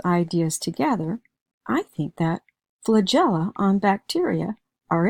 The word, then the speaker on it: flagella: that the E following the G is probably going to make a J sound. So I'm thinking it sounds like flagell right now. All I have to do is add that OA sound to pronounce the word as flagella.